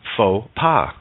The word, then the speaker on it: faux pas: o does the work X is silent in faux pas yeah we've made a